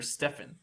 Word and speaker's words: Stephen: he was going by Steph or Stefan is how you would pronounce his name when he uh beat